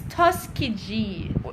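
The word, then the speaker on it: Tuskegee: at that and just says oh so it's Tuskeegee so it's correct my pronunciation is correct nadine says destiny my mother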